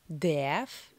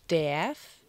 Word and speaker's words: darf: Pour ce verbe, vous n'avez pas besoin de vous embêter pour bien prononcer le R. On dit ich darf et non pas ich darf.